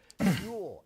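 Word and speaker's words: Huel: So, that is why I'm so happy we now have Fuel as our sponsor. It's spelled H U E L and their Black Edition ready to drink.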